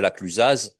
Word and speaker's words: La Clusaz: Or, personne dirait la Clusaz.